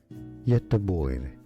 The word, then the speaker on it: Göteborg: more Swedish vocabulary and names too many people mispronounce. Stay tuned to the channel to learn more. Göteborg.